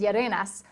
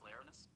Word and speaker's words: Yerenas: Did you mean Ralph Larenus? That's not how you pronounce that.